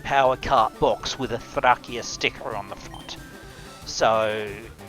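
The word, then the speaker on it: Thracia: I don't have Thia. I I could have bought it. I it a cop p of uh I shouldn't call it thia. It's Thrakia. That's how the the Japanese store pronounced it.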